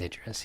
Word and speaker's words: Idris: I can't pronounce his name. Idris. I've always said Idris. Elba. It is Idris.